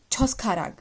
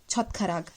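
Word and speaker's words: 젓가락: Okay, so you're gonna say this word like choskharag. There is nothing like choskharag is chotkarag. And the logic why we are saying it chotkarag is because of this rule.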